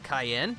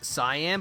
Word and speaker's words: Cyan: is more indicative that it's supposed to be pronounced like the pepper and not the color.